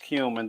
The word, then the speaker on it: cumin: got some cumin here all right it is pronounced cumin don't get cute this is a family show